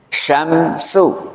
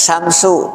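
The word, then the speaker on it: شمس: Syamsu. Jadi membacanya shin yang pertama shin besar, yang kedua kecil. Tidak sama, tidak samsu atau tidak syamsu. Syamsu.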